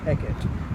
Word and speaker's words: Hecat: have to pronounce it eket the stress is on the first syllable it's been very nice